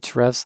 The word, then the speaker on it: Ahrefs: So right now I'm looking at, I'm in a tool that I use called Ahrefs or Hrefs. I don't think anybody really knows how you pronounce that, but I call it Ahrefs.